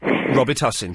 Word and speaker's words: Robitussin: father invented Robitussin, and the correct way to pronounce it is Robitussin.